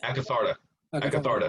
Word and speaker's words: Akatharta: Akatharta.